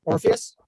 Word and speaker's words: Orpheus: Orpheus?